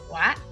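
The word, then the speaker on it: は: Cái chữ này là chữ ha nhưng mà khi mà nó đứng làm trợ từ thì mình sẽ được đọc là wa.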